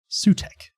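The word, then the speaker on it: Sutekh: Sutek. What a coincidence that one of Doctor Who's greatest villains, the second syllable of his name is Tech.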